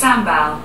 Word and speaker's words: sambal: Hey Google, how do you say S-A-M-B-A-L? That's pronounced sambal.